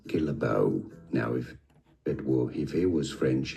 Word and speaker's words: Guillebeau: His surname is pronounced in the US as Guillebeau. Now, if it was French in France, it would be said as Guillebeau.